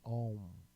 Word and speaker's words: Om: Pronúncia única, emissão de som seria Om.